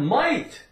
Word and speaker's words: might: change the L to an M we have might m i g HT m i t might